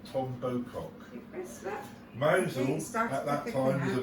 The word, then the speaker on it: Mousehole: It is actually spelt mousehole, but it is pronounced Mousehole.